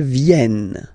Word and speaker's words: viennent: Elles viennent. Ils viennent. Elles viennent. All right? E-N-T. You don't pronounce them.